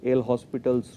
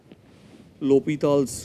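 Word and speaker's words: L'Hôpital: So in India we will call it L'Hospital's rule, but if you go by the French pronunciation, it is called L'Hopital's rule.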